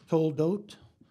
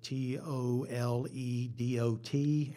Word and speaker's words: Toledot: There's a whole series of what in the Hebrew word is Toldot, sometimes spelled Toledot, and sometimes the same with an H on the end, to be pronounced as a hard T, which is literally the generations of.